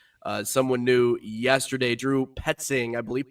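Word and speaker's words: Petzing: Drew Petting, I believe. Petting is how you pronounce it.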